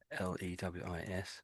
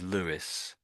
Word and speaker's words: Lewis: So L E W I S. So we pronounce that as Lewis, but it's sort of similar to that name.